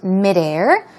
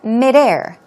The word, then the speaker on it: midair: Okay, and midair. Stress goes on the second syllable. Midair.